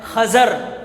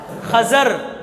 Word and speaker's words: خضر: جی خضر نہیں، یہی تو میں نے لفظ کا تلفظ آپ کو صحیح بتانا ہے۔ لفظ کا صحیح تلفظ ہے خضر۔ کیا ہے؟ خضر۔ اور یہ خضر کو خضر کیوں کہتے ہیں؟